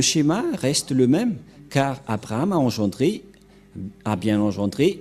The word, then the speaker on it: Abraham: le Dieu d'Abraham mais pour eux c'est plus Ebrahim mais Elia vous dit que c'est Abraham car on l'a retrouvé premièrement dans le livre juif les Juifs ont prononcé Abraham c'est-à-dire que le Dieu